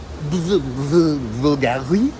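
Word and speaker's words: Bvlgari: In Central Park, just as you come in, you can go to Vulgari. I think the V is supposed to be pronounced like a U.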